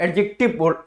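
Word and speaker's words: adjective: क्या होता है बेटा इसको एडजेक्टिव पढ़ेंगे ना कि एडजेक्टिव पढ़ेंगे एडजेक्टिव पढ़ेंगे डी होता व साइलेंट होता है जैसे देखिए बेटा क्वालिफाई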